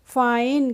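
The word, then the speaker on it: fine: आई एन ई तो एफ आई एनई को हम पढ़ेंगे फाइन क्या पढ़ेंगे फाइन पढ़ेंगे इसको हम फिने नहीं पढ़ेंगे इसके बाद फ्रेंड्स आ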